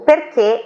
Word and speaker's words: perché: O perché é uma das poucas palavras em italiano que tem o accento acuto.